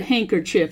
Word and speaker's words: handkerchief: handkerchief and lying against the naked skin northward handkerchief it looks like hand kerchief but it's pronounced hanker handkerchief it was the only way